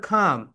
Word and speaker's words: calm: বলে না তারা, CALM, ক্লেম বলে, ক্লেম। তুমি তোমার বন্ধু বান্ধবীদের একটু জিজ্ঞাসা করো তো যে এটা তুই প্রোনাউন্সিয়েশনটা করতো, ক্লেইম বলে, ক্লেইম, রাইট প্রোনাউন্সিয়েশন হবে খাম, এখানে এটা সাইলেন্ট লেটার।